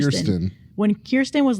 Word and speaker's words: Kirsten: Is it Kristen or Kirsten? Kirsten.